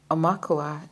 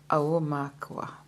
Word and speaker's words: aumakua: Omakua is pronounced Aumakua. Aumakua.